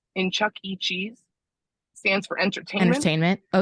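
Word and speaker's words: Chuck E. Cheese: say it properly yes look at it it's an e it is an initial but you just say it as Chuck E cheese but if you if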